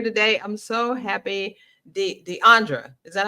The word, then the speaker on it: Deandra: on here now Deandra do you call yourself DeAndre or you just Deandra you you have some moniker thing going on right well it's actually pronounced Deandra butand Deandra then it's I usually go by